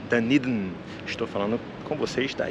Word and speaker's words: Dunedin: à cidade de danin como a gente falaria em português dedin a pronúncia correta é danid estou falando com vocês